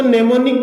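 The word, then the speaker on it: mnemonic: है और इसमें दोस्तों नेमोनिक कोड का यूज किया जाता है। तो दोस्तों मैं आपको जानकारी के लिए बता दूं, नेमोनिक में एम जो है दोस्तों वो साइलेंट है और इसमें छोटे छोटे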